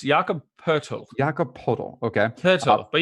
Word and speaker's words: Poeltl: How do you say Podol? It's Jakob Poeltl.